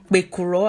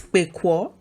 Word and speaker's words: pekuro: If you go to the rural parts, don't be surprised if you hear them pronounce pekuro as pekwo, because of how fast they speak, or maybe their intonations, or just because they're native speakers of the language and they speak fast.